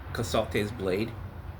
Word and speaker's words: Casalte's Blade: How do you pronounce the name of the book? It's called Casalt's Blade.